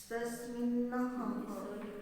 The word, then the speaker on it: तस्मिन्नः: स्तव म्हणतो की नाही तर सगळीचा उच्चार तस्मिन्नः, कारण तो शब्द पूर्ण कसा आहे, डबल न असून त्याच्याला अनुस्वार आहे आणि हच्या पुढे पुन्हा विसर्ग आहे, त्यामुळे उच्चारण थोडंसं उच्चार कसा करायचा.